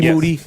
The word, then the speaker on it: Moody: uh Moody last name rhymes with Duty and uh we're done